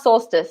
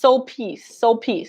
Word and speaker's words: Sulpice: No, it's not solstice. It's Sulpice. Saint Sulpice. Sulpice.